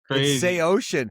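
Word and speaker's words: Saosin: Say Ocean. Say Ocean is the original pronunciation, I'm being told here.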